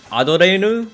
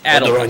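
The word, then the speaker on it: Adeleine: Adeline? The Japanese people pronounce it Adorenu, but it's Adeline. Adorenu. It's Adeline.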